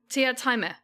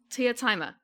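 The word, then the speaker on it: Teatime: I know it's how it's spelled. Teataime. Teataime.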